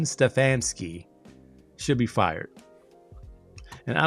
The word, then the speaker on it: Stefansky: Ste Kevin Stfansky, let me say it right. Kevin Stefansky should be fired.